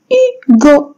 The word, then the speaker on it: Hugo: Comme vous voyez ici, c'est Hugo. Hugo. Je prononce pas le H.